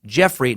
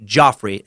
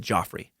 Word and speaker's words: Geoffrey: and Merlin and again the name is pronounced Geoffrey not Joffrey and that's what I said in the episode I said Geoffrey it's a weird one